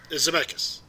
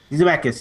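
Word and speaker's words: Zemeckis: I believe what is it uh how you pronounce it? Zmechus. Zmechus.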